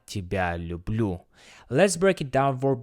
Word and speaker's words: люблю: The stress falls heavily on the last syllables. Я тебя люблю.